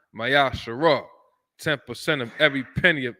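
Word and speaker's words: מעשר: Numbers 18:21, Malachi 3:8-10, means 10th in the Hebrew, which is pronounced Mayasharah.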